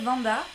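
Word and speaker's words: Wanda: Alors je m'appelle Vanda, ça s'écrit avec un W mais ça se prononce comme si c'était un V.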